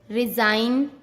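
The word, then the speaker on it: resign: Rule, जब एन से पहले जी आता है तब हमेशा जी साइलेंट होता है।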